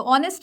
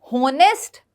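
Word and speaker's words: honest: को थोड़ा सा समझो ऑनेस्ट में एच साइलेंट होता है रिसीप्ट में पी साइलेंट होता है सटल में बी साइलेंट होता है ये होनेस्ट रिसीप्ट सबटल नहीं होता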